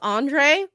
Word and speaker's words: Andrzej: Oh, it's pronounced Andre? How am I supposed to know that, Andrzej?